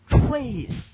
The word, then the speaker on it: trace: OK。Number three，传奇怎么说？叫 legend。好，下个词要记得，这个重要词叫 anthropologist。尽管这个词本身没有重要性，但是呢，它的构词方法要注意一下。anthropologist。好，遥远怎么说？remote。OK，祖先称为 ancestor，注意重音，不要往上挑啊，不要读成 ancestor。ancestor。OK， next 下个词要记得，继续往后走，rot。OK，好，痕迹称为 trace， not the trace。为什么要读的 trace 呢？第1结尾嘛，right？